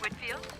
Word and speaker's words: Whitfield: I have a meeting with Olivia next week and just wanted to get the pronunciation of her last name correct it's Whitfield Whitfield well that's what I thought and how